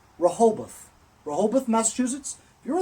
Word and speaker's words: Rehoboth: the Massachusetts uh rub how do you say it Rehoboth rahabaan' repo bath no it's Rehoboth we're hold with Massachusetts